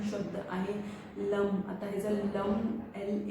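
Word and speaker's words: लं: आहे लम आता हेच lump L ए N lump उच्चारण कसं करावं हे मी तुम्हाला सांगते बघा असं लम अशा पद्धतीने 236 हज फ्रिक्वेन्सी मध्ये तुम्हाला ह्याच उच्चारण करायच आणि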